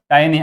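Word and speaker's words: tiny: टाइनी wings टाइनी here टाइनी आम एटा को केबे टीनी पढ़िबानी यार प्रोनाउंसिएशन होची टाइनी टाइनी means very small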